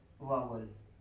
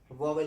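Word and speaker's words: vowel: एक होता है हमारा वावल, जिसे आप वॉवल कहते हैं, लेकिन इसका सही प्रोनाउंसिएशन क्या है? सही प्रोनाउंसिएशन है वावल।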